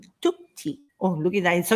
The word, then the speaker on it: Chukchi: So it doesn't sound like we in Spanish with the CH, like chuchu, Yeah. cha-cha, muchacha, chacho, Yes. chica. It's different. Pretty It's cool.